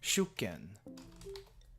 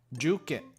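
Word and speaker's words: 受験: Juken. Juken. Juken. So it's not even shu, it's ju.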